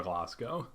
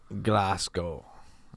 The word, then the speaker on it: Glasgow: I saying it right yeah yeah spaceships over glasow glasow okay yeah so the name itself I was